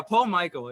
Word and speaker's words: Paul-Mikél: And then to kind of bounce off of that, Michael. Is that how it's pronounced, Michael? Yeah, Paul. Okay. Well, but I don't even know myself at this point. Is it Paul-Mikél? Yeah, Paul-Mikél.